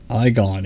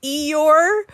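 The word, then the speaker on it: Eghon: she wants to know what the mark of Egon is. Did I say it right this time? You did. What did I say before? You did. Egon? You said Eeyore.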